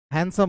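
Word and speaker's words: handsome: understand understand जिस प्रकार इसमें डी का उच्चारण नहीं करते हैं इसको नहीं करते हैं हैंडसम होता है जब भी हम लोग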